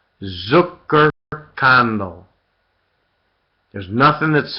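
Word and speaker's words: Zuckerkandl: Zucker condo just okay spell it z u c k e r k a n d l e Zucker candle there's nothing that's spelled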